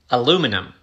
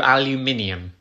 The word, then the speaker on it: aluminium: aluminium it's a metal aluminum no aluminium aluminum you're losing a syllable aluminium aluminum how are